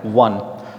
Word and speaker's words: one: Next we have one. Again, O. One means single, right? Now, O-N-E, but we pronounce it with the V sound.